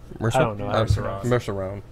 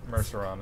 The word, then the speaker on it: Merceron: Julian uh mer mcon merceron merceron is probably how pronounced there she goes right